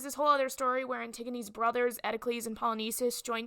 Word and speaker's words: Antigone: A summary of Antigone, pronounced Antigone, not Antigone.